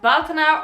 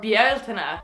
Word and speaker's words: Bealtaine: weird as well but in ireland it's pronounced bhatna or bieltena and we have the first written record of it so we get to decide how it's pronounced on youtube okay okay the china part of the pronunciation is really important since it's the irish word for fire and that's kind of fundamental to an irish fire festival besides that my name